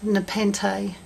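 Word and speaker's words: nepenthe: I looked it up and it's actually pronounced Nepente, which I think sounds nice.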